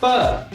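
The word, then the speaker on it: 爸: How to pronounce pa? In Chinese, B is pronounced as pa, and it becomes pa.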